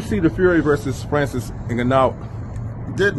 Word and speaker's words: Ngannou: Did you see the Fury versus Francis Ngannou? Did not. I seen it. I seen. Shout out to, let's pronounce his name right.